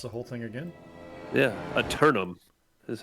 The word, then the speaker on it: Eternum: back and watch the whole thing again yeah eternum is how you pronounce it yeah i turn them okay all